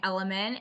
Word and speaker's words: LMNT: first thing and then element for hydration what is element is that like a type of water it's spelled lmnt and it's a powder drink